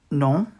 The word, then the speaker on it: nom: Ton nom est. We don't pronounce the M.